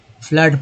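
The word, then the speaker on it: flood: अ पढ़ते हैं, कैसे फ्लड पढ़ते हैं, फ्लड फ्लड फ्लड अ आ रहा है, फ्लोर वो यहाँ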